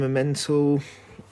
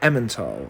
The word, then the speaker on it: Emmental: whatever i meant i'm a mental i always get told off for not pronouncing that very well emmental i believe but yeah the point